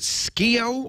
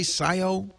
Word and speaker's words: Scio: Perry is in is it Sko Oregon? Is that right, Perry? Scio. Scio, Oregon. Scio. You pronounce SCIO. Is that right? Yes. All right. People around here call it SC10.